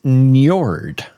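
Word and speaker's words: Njord: to Freya and fr it's Nord Nord Nord can you spell that NJ NJ o r d Nord it is the god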